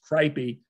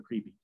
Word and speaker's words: Kreipe: is Dr creepy um so my name is pronounced kpy uh but because it looks like KR it's spelled KR eiip PE um most of my patients call me Dr creepy and I would say